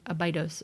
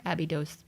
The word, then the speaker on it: Abydos: of the site of Abydos or a B dos depending on your pronunciation and I'm trying to